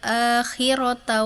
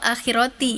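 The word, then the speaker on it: لَلْآخِرَةَ: dan harusnya tadi eh wa inna lana lal akhirata wal ula. tadi husna bacanya yang awal akhirati ya baru dibenerin akhirata benar.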